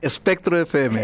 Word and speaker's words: Espectro FM: espectro FX, espectro MX, ¿cómo es que se pronuncia bien? Espectro FM.